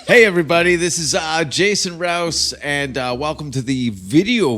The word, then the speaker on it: Rouse: Rouse? With an R. Oh, okay. Rower. Some people say Rose Right. or Roose. Mm-hmm.